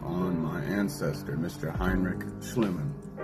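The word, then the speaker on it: Schliemann: Heinrich Schlimman, right? Or pronounced Schlleman, Schlleman, whatever the case might be.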